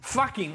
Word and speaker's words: Fucking: Fucking all well, the actually, time. Well, actually, it's pronounced Fucking, but it's spelled Fucking.